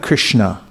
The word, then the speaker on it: Krishna: as srimati radharani then we have Krishna so this has two syllables as you can see